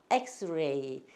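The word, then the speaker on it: X-ray: 그냥 혀를 입안 깊숙이 넣고 이거를 발음하면은 렌지 모르는 자연스러운 소리가 난다. 엑스레이 엑스레이 이거 저기 우리 병원 가서 하는 그거 엑스레이지요.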